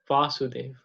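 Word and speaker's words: Vāsudeva: where Krishna is mentioned, there's a long A. There's an A with a little line above it. You see? So that's usually pronounced as Vasudev.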